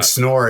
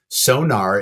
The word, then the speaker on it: Sonor: like indulgent son sonor it's like sounds like snor it's just like sonar let's get to it and talk about the drums sonar is dumb American pronunciation but it's like okay